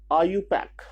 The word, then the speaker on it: IUPAC: तो ये आपका IUPAC नोमेनक्लेचर है, जिसको हम लोग, इसका प्रोनाउंसिएशन है IUPAC।